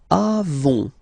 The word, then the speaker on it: avons: Then nous avons, final s not pronounced, avons, okay.